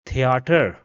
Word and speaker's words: Theater: Rather, it will be pronounced as we pronounce it in the words Thursday or math. So for example, this word over here will be theater, theater.